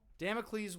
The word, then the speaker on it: Damocles: Uh how do you pronounce that? Damicles. Dam. Damocles was a legendary figure in ancient Greek mythology known for his role in the story of the sword of Damocles.